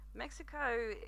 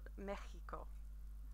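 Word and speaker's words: México: Mexico is pronounced Mexico, which doesn't really follow the rules that I taught you last week, I must admit. But Mexico is more commonly pronounced. You can say Mexico, but to be honest, Mexico is a little bit more accurate and is more widely used.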